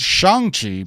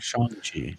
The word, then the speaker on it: Shang-Chi: Shang-Chi. Shang. So it's basically SHONG instead of Shang. That's like the Mandarin way of spelling it.